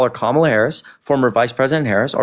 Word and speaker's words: Kamala Harris: Then call her Kamala Harris. Just pronounce her name correctly.